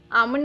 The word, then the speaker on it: almond: आमंड मतलब बादाम। इसमें स्पेलिंग है ALMOND, आमंड। इसमें L साइलेंट है।